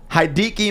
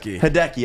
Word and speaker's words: Hideki: home run he passed hadiki matsui for the most home runs hideki i said it wrong i knew it